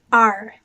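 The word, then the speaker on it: 二: e very good now the number two is pronounced r like a pirate and it's in fourth tone going down r repeat after me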